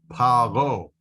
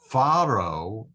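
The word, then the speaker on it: פרעה: But sometimes Pharaoh is pronounced with an F sound instead of the P sound.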